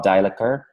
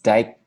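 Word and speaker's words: Daikeler: On Saturday, we had the Surge with Carl Deichler. No, wait, Deichler. Deichler. I've been saying his name wrong. It's Deichler.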